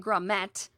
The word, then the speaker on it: grommet: Okay, and then you get grommet. Okay, so is the double TE. So the T was always pronounced. So it was never gourmet. That was not a thing.